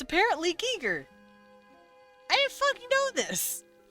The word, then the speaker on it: Giger: And I looked it up, and it's like, yeah, it's German, so you pronounce it Giger.